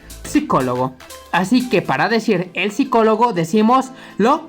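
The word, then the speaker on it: psicologo: Nótese que la PS se pronuncia la P, a diferencia del español que solamente decimos psicólogo, ¿no? Entonces en italiano es psicólogo.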